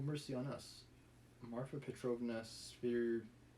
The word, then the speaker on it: Svidrigailov: Marfa Petrovna Svidrigailov. Svidrigailov.